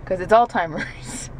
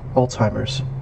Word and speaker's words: Alzheimer's: surround sound now okay Alzheimer's that was a t there's no T there but did you hear the T I heard a c listen again he says it three times Alzheimer's Alzheimer's see zymers Alzheimer's he's saying like a German there's no tea in German that's the difference between